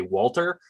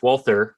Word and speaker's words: Walther: doesn't know me because they'll pronounce my last name without the H. They're like, there's an instinct to say Walter. Yeah. But no, it's with the H, Walther, like James Bond's gun.